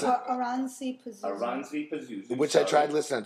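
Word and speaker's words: Oranssi Pazuzu: Orasani Pazuzu. And how do you pronounce it? Oransi Pazuzu. Oransi Pazuzu.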